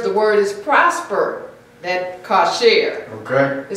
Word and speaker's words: kosher: The pronunciation and spelling kosher is from the Ashkenazi and Yiddish influence.